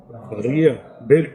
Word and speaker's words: birria: Like then you get like a birria. Birria. You pronounce the accent is on the beer.